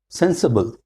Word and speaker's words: sensible: Once again, sen has got stress. The first syllable, sensible, 3 syllable. Sensible, not sensible. We put C and we stress also. We also stress that syllable C. Sensible, no. Sensible. Sen is more stress.